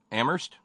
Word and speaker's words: Amherst: very kindly to Terry in Amherst where only the H is silent and thanks very kindly